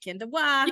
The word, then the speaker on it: Kenda Waugh: I pronounce it right? Kenda Waugh.